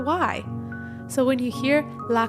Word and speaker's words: y: It sounds like the letter E in English, but in Spanish, we actually spell it with just the letter Y.